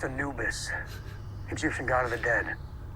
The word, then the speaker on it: Anubis: advanced technology it's called the annulus Anubis it's pronounced Anubis Egyptian god of the dead yeah the powers